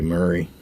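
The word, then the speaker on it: Maury: I don't know some people pronounce it one way and some people pronounce it the other. I always say Murray, Doug, McGrath, Ed Crane, and Singleton.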